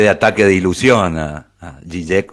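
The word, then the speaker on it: Žižek: Zizek, mi pronunciación es solamente por la lectura de la doble Z, Zizek, pero sí, yo digo Zizek, pero aclaro que es Z-I-Z-E-K, porque es claro.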